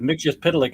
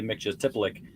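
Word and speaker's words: Mxyzptlk: Basically, they switched the T and the P around. Yeah, that's that. Mixius Pitalik is the one that more people know, but yeah, it was definitely Mixius Tipalik in the Golden Age. Yeah, and I'd practice those names. That's why they can roll off my tongue. And then, as you said, in the Silver Age is Mix Yes Pitlik. Yep.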